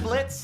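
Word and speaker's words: Blitzø: talker are we I'm Blitz the O is silent now I'm sure we're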